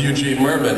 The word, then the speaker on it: Eugene Mirman: do you pronounce your name I was like Eugene Merman why how do you pronounce it and she goes it's not Barbara